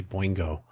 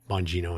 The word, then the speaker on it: Bongino: And by the way, I always want to say Boingo when I see that name, like Oingo Boingo. Maybe it'll be Bongino and Bondi.